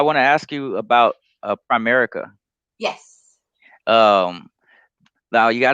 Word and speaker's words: Primerica: there are a lot of rumors about Primerica, and first of all, what I always hear is that Prime America thing, because people pronounce it correctly.